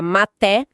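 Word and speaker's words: מטה: E a palavra hebraica para cajado que se pronuncia maté, adivinha?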